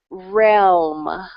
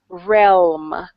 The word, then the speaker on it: realm: consonant com combination that it's a little bit challenging to pronounce the L and the M together okay that word once again Yuki is Realm realm try that again realm